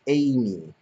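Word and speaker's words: Eimi: we saw amy um not spelled amy it was spelled e-i-m-i she makes a big deal about that that it's that that's the way it's spelled and pronounced um instead of amy it's amy it's who cares who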